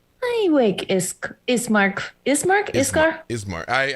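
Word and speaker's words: Ismark: you asking uh arena or are you asking iskar i awake esk is mark is mark iscar ismart i i keep saying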